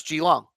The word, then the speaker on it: Geelong: it is actually no to pronounce geelong not Keylong all right geelong all